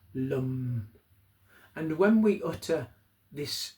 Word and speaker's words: Lam: It's pronounced lum. It looks like lamb to us the way it's been transliterated into English, but it's actually pronounced lum.